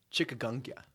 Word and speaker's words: chikungunya: Is that how you pronounce that, man? Chikungunya.